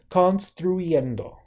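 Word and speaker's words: construyendo: so let's pronounce that cons through eiendo oh there's a lot of vowels in there right so in Spanish whenever we have a clump of three vowels and the middle vowel is I we're going to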